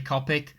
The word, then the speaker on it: Copic: be a good idea sorry I pronounced it Copic I know it's actually Copic so I do use